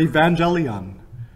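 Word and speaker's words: εὐαγγέλιον: The word for gospel in Greek is the word evangelion. I'm not quite pronouncing it properly, but that's the way we traditionally pronounce it.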